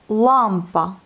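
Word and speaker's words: лампа: Lampa. On a encore l'accent sur la première syllabe.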